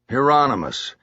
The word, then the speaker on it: Hieronymus: Hieronymus.